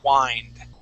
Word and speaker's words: wind: Sometimes it can be very confusing because it's spelled exactly like wind. Okay, but when you see an ing, that means that it's in the verb form, and the verb form is wind.